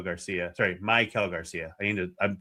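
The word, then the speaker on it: Maikel: Sorry, my Kel Garcia. I need to I'm trying to say his name correctly now that he's told us that you emphasize the my and not the Kell.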